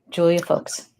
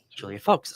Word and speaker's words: Julia Folks: It's like the old folks at home, Julia Folks. Julia Folks.